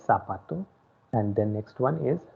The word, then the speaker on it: zapato: pronunciation part very carefully it is zed so sir sound should be there so it is sabato don't say zapato so el sapato and the next one